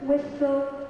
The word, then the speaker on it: whistle: Silent T is not pronounced in these common words. Castle is never castle. Castle, Christmas, listen, whistle, and often.